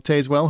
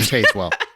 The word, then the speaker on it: Tazewell: Costume design, A Complete Unknown, Conclave, Gladiator 2, Nosferatu, and Wicked, which was the winner, Paul Tazewell, who was the first black man to win, as we talked about earlier.